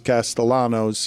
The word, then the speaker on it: Castellanos: I was surprised to see Nick Castellanos, although he pronounces his Castellanos.